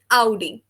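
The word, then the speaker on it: Audi: फिर नेक्स्ट हमारा dare आउडी, English में इसको ऑडी बोलेंगे, जर्मन में इसकी प्रोनाउंसिएशन हो जाएगी आउडी।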